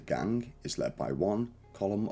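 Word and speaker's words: Colm: is led by one column Ultra School often mispronounced as colon a notorious Outlaw whose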